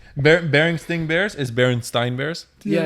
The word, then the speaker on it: Berenstain: In the show, they said Berenstain.